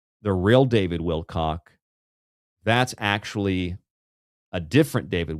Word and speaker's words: Wilcock: David Will They they pronounce the name wrong. It's David Wilco not Cox with an it's not it's a singular It's not a plural I